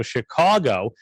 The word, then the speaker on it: Chicago: in a big city so chicago c-h-i-c-a-w-g-o and i uh he was